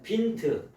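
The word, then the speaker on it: Wind: 독일어 성경 빈토로 뭐냐면 빈트 독일 말로는 윈드라고 그러죠 영어로는 윈드 영어로는 윈드인데 독일 말로는 빈트라고 발음을 해 이걸 빈토로 뭐냐면 번역을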